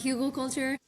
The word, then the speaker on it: Hügelkultur: It's a German technique. I pronounce it Hügelkultur.